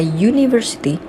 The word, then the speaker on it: university: When we pronounce the word university, pada saat kita melafalkan kata university, bunyi apa yang awalnya muncul?